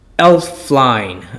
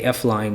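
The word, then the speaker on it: Elflein: It's and I keep saying his name wrong, but it's Elfline. I say F-line, but that's not right.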